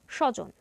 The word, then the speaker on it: স্বজন: তাই স এর উপর অতিরিক্ত যোগ পড়বে এর উচ্চারণ হবে স্বজন দ্বন্দ এখানে দ এর সঙ্গে ব যুক্ত আছে